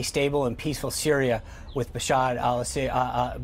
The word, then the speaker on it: Bashar al-Assad: can see a stable and peaceful Syria with Bashar al-assad Bashar side in charge Bashar al-assad I know you mispronounced his name a few times last year mr.